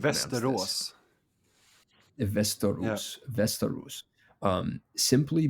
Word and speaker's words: Västerås: How do you pronounce Västerås.